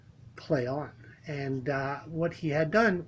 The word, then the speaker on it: Plaion: Now, Ben works at a company called Plaion, Plaion, pronounced Plaion.